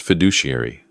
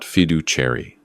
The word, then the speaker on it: fiduciary: Dad, it's pronounced fiduciary, not fidu cherry.